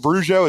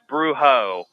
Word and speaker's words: Brujo: And so is it Brujo? Is that how you say it? Close. Bruho.